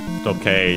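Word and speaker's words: 時計: Yes, as we've seen before, Tokei is unaccented.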